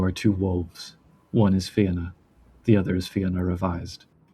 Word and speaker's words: Fianna: Yeah, the Fianna, also known as the Fianna or other pronunciations. Not the Fiona, which is No. Similar origins, though, etymologically, which is kind of cool.